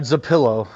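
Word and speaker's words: Trapilo: We literally had two different pronunciations given to us for Azie. Is it trapillo or trapeio? I I didn't want to correct you, buddy, but it's uh zapillo.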